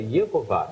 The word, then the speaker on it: Yehová: Ou seja, a pronúncia exata que eles pronunciavam era Yehová, era justamente isso.